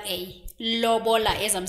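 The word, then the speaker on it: lobola: her from afar Ed O how do you spell it what I think the Loba Loba it's l o b o l a Loba as I'm saying it Loba Rus is asking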